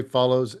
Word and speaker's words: Folloze: And just for those watching, the way Follows is spelled is Folloze.